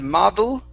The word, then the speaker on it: model: All right, give me a good D sound here instead of model. Okay, move your tongue back off of your teeth.